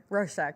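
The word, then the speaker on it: Rorschach: roest test I can never say it right rosek yes thank you I call it the sauce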